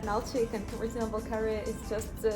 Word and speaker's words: Kabardino-Balkar: Wow, I could never pronounce this. Can you say it again? Kabardino-Balkar.